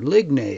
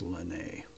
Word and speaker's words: Ligny: Battle of Ligny, or Ligny as I like to say it, but I guess it's pronounced Ligny.